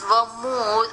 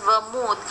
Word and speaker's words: vermouth: this using your mouth but you should not pronounce it as well mouth it's vermouth it's a vine you can drink using your mouth but you have to call it as vermouth vermouth is a wine and it also has